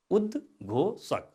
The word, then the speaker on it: उद्घोषक: यहाँ पेट चिरेको स छ, तर हाम्रो उच्चारणले चाहिँ पातलो सको उच्चारण गर्छ, यसलाई दन्त्य स पनि भनिन्छ। उद्घोषक, उच्चारण गर्नुहोस् त, फेरि उच्चारण गर्नुहोस्, उद्घोषक।